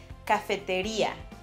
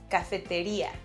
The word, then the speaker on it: cafetería: But in Spanish, we'll have to stress the I, so we pronounce it cafeteria. Cafeteria.